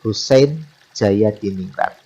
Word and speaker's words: Husein Djajadiningrat: namanya susen Jaya diningrat ejaan nama Husein djajadiningrat ejaannya tetapi Bacanya adalah Husein jayadiningrat bakal berikutnya tokoh yang